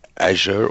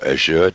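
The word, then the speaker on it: Azure: integration components sitting in what microsoft called asier or assured depending on how you want to pronounce it but essentially that's an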